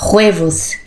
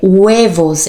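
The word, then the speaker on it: huevos: E aí depois eu falando pro John, aí o John explicou, não é ruevos, é uevos. É como se fosse um u. Uvos, porque é um h.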